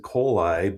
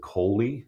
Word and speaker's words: Kohli: I pronounce it Kohli, but everybody else pronounces it Kohli. So just think of E. coli. It's not spelled the same, and now you'll never forget.